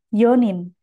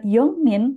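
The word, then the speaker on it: 四人: Kita lanjutkan, empat orang, yonin. Jadi untuk empat orang tidak dibaca yongnin, melainkan yonin.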